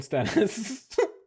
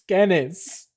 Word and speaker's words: Skennis: Like, all right, have a good one, Stennis. And he's like, it's Skennis. Get it right.